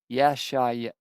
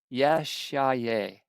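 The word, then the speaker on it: ישעיהו: Now, the rest of the acts of Uzziah, first and last, did Isaiah And in Hebrew, Isaiah is pronounced Yesha'yahu. Yesha'yahu. Yesha'yahu.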